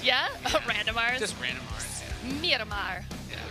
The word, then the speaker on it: Miramar: It's going to be Miramar. Miramar. What was that accent? Where'd that come from? Roll some randomars. Yeah? Randomars? Just randomars. Yeah. Miramar. Yeah. Do the last R, too. Do both R's. Miramar.